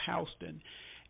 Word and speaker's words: Houston: It's spelled like Houston, but we pronounce it Houston.